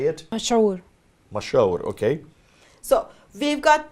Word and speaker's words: مشهور: Go ahead, the mashhur, am I correct how you say it? مشهور.